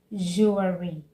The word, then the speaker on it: jewelry: They usually say jewelry, jewelry. Okay, but it is jewelry, jewelry. There is no need adding the sound when you're pronouncing this word. Just say jewelry and not jewelry, jewelry.